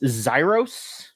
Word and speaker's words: Xyros: Of course, and joining us this time is please tell me if I mispronounce this. This is just Xyros.